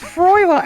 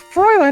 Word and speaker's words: Fräulein: like freight lines of Darkness no it's not pronounced froila it's froiler not frown mine I mean that's the worst